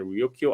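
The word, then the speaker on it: Ryūkyū: you know first they they refer Luchu by the Japanese pronunciation Ryokyo Islands but they but then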